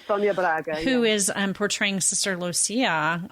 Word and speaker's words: Sonia Braga: Is that how her name is pronounced? Correct, Sonia Braga.